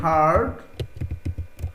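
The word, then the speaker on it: heard: এ fairy হার্ড, এটা কিন্তু হিয়ার্ড না, এ ফেয়ারি হার্ড, হিয়ার সরাসরি বলবেন না, এ ফেয়ারি হিয়ার্ড, আরটা উচ্চারণ করবেন না, হার্ড হিজ ক্রাই, তার কান্না শুনলো।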